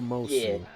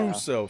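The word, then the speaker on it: Musou: up, not like a Mosu. Yeah. Yeah. Muso. Sorry, I've been saying it wrong this whole time.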